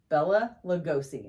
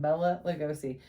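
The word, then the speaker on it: Bela Lugosi: dracula was played by bella lugosi is how he pronounced his name bella lugosi he was so creepy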